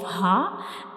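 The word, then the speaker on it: ه: So this is the shape of ha, and ha is a throat letter and it is pronounced from the bottom of the throat.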